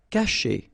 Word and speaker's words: cacher: Cacher. Okay, so remember, when you combine this C and A, you get the sound K, okay?